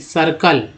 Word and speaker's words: circle: ई आए तब क्या होता है, श का उच्चारण होता है, श, है ना। यानी कि CIRCLE, सर्कल, ठीक है, सर्कल है।